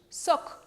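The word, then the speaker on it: сок: Soc. Soc. Jugo. Claro. Automáticamente nosotros estaríamos leyendo coc, ¿verdad?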